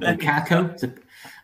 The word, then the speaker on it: Bussaco: So he fights at the Battle of Bussaco, or Bussaco, depending on your pronunciation. There's a Portuguese, the lovely Portuguese inflection.